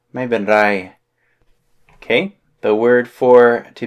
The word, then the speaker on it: ไม่เป็นไร: ไม่เป็นไร. You gotta roll your R there. ไม่เป็นไร.